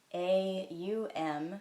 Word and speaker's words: Aum: did he say that M has three parts in its pronunciation a u m rather than o om M because he said